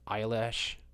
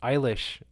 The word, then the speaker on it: Eilish: description of the latest Billy eyelash Eilish Eilish I know how to pronounce it now video good girls go